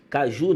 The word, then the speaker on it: caju: Mas caju tem acento fonológico. Por quê? Existe uma sílaba ali que é acentuada. Ou seja, existe uma sílaba ali que é forte, que é o ju.